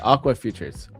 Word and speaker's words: Aqua Futures: Oh, it's Aqua Futures.